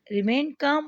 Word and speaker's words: calm: को मुमकिन बनाया, रिमेन काम वो बिल्कुल पुरसुकून थे। यहाँ पर काम में एल साइलेंट, स्टूडेंट्स इसको प्रोनाउंस नहीं करेंगे, काम यानी पुरसुकून थे, सीरियस संजीदा थे, एंड सोबर और खामोश या बारोब थे।